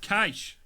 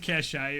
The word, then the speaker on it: cache: Pronounced cache. I was like, when I said cachet earlier, I saw a look on your face.